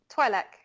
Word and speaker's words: Twi'lek: I feel like I say Twi'lek, but it also that depends. Sounds a little bit like toilet in English, though.